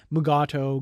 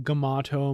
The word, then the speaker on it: Mugato: throughout this episode that the magato has alternative pronunciations of its name mugato gamato magutu maguto all these various different pronunciations and the title of